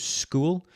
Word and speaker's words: Skool: If you want to build your own community of coaching, you can do it on platforms such as School. School is spelled Skool.